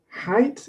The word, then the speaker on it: height: Height. Height is has a different vowel sound despite the spelling, so that's a rather unusual one.